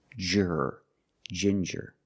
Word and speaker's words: ginger: With ginger, we use the J sound, like juice and jump, j, and the regular N, ginger.